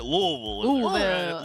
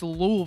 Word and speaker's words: Louisville: louville got to make sure you hit that lville yeah I said it wrong and my dad was like it's louville they will I got family down there I